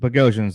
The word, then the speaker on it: Bogosian: Bogo, because they gave up nickname, and Bogosian, which Bogosian's the way it actually is.